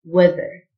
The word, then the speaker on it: weather: دراجة cycle cycle الطقس weather التي اتش تنطق ذه weather expressions and prepositions فترة